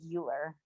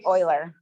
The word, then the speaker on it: Euler: it rachel was well it looks like euler so it's oiler honestly you guys have